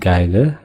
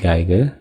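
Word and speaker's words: Geige: இதை வந்து ஜெர்மனில் எப்படி ப்ரொனவுன்ஸ் பண்ணுறதுன்னு சொல்கிறேன். தி காய்கர், வயலின் வந்து டி காய்கர், கிட்டார் வந்து டி கிட்டார், கோஸ்ட் வந்து டி கைஸ்ட்.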